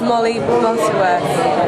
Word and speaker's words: Molly Butterworth: It's just Molly Butterworth. What? Molly Butterworth, it's softer.